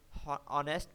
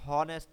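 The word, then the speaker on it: honest: को कैसे पढ़ना है, हम साइकोलॉजी पढ़ें, पसाइकोलॉजी ना पढ़ें, ऑनेस्ट पढ़ें, हॉनेस्ट ना पढ़ें, तो ये करेक्ट प्रोनाउंसिएशन कैसे पता लगेगी?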